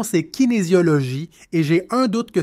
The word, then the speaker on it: kinésiologie: La prononciation, c'est kinésiologie et j'ai un doute que c'est plus de la kinésiologie appliquée.